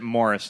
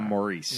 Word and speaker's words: Maurice: And I'll correctly pronounce it Morris instead of Maurice.